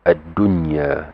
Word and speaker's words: ad-dunya: It will be adunya. It will be just pronounced clearly.